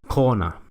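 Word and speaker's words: krone: Un ejemplo que usa ambas pronunciaciones de la R es la moneda local, krona.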